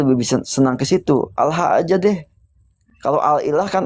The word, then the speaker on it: Allah: Sebenarnya Al-Ilah itu kalau dibaca secara pengucapannya jadi Allah. Karena dihilangkan tuh ada satu huruf yang dihilangkan begitu ya, menjadi Allah, disambung menjadi Allah.